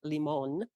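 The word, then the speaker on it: Limón: and did the two albums with Javier Leon leemon Javier leemon pronounced well thank you I'm practicing and and toured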